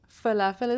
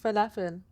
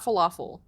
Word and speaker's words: falafel: Falafel. Not falafel. It's okay though. How, If you don't speak Arabic, it's fine. But it's pronounced falafel. But you could say falafel. It's fine. I won't judge you.